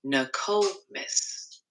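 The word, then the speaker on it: Nokomis: how do you say that Ryan it's actually pronounced Noom Miss looks like you might need to brush up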